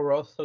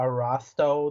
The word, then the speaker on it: Rosso: name of your place it's a rosso deli and it's okay because for like the first four months that i worked there i called it a rostow deli or a rusto deli